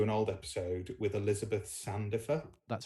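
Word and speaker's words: Sandifer: was listening to an old episode with Elizabeth Sandoffer.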